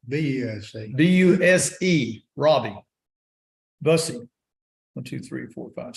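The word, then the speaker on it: Buse: seven Robbie uh Lucy b-u-s-e is how you pronounce it busy b-u-s-e Robbie Bussy one two three four five six seven two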